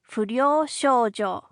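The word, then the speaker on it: furyou shoujo: Footnote, it's spelled something like f u r y o u s h o u j o if you want to write it in English, you say it fojo.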